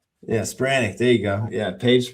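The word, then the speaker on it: Spiranac: Spiranic.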